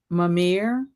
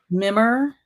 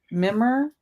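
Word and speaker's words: Mimir: If Travis gets to be Loki, I guess I'm Mamir. Is that how you pronounce it? I don't I get confused with all the Mimmer. Mimmer.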